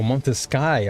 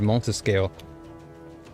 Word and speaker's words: Montesky: Oh, Montesky. Okay, I was pronouncing it incorrectly. I said Montescale.